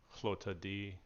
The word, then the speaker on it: Lotad: Lota D.